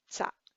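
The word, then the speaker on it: རྩ: So for 20, the and will be pronounced za.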